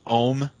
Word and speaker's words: Oum: It's pronounced Oum. It's Monty Oum. Oh, I thought it was Just Oum. No, it's Oum. It's Oum.